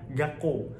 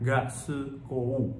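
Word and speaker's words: 学校: dikasih se kecil nah cara bacanya itu misal nih kayak gako kayak sekolah ya itu bacanya gako bukan G Se kou bukan ya tapi gako itu kasih suuk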